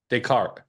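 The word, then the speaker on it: Descartes: 2350 they C right decart rhymes with fart thank you that helps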